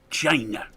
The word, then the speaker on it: Chyna: the same sentence I I think it's pronounced China China black well she actually spells it that way c h y n a she spells it the